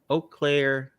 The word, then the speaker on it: Eau Claire: have a family and uh how do you pronounce it again you close earlier eau claire yep okay eau claire uh in wisconsin yep hello wisconsin bet everybody